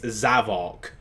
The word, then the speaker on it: Zavok: well yeah we have we got the official pronunciation of the zavok it's zavok which it's how he does that like sonic